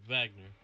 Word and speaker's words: Wagner: German, the W is pronounced like a V, so he should have said Wagner.